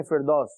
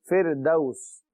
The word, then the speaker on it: فردوس: جنات الفردوسی, اردو میں ہم کہتے ہیں فردوس, جنت الفردوس, لیکن عربی میں اس کا صحیح تلفظ ہے فردوس.